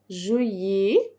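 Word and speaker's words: juillet: جونفيي فيفريغي جونفيي فيفريغي مارس افريل مي جوان جويي جووا الان ما بتتنطقش جو وا جو الال ما بتتنطقش او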